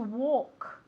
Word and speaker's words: walk: Como realmente si fuera una O, no una A. Walk, ¿ok? One more time. Very good. Pilar? To walk. Very good. Y la L muda, como si no existiese, ¿ok?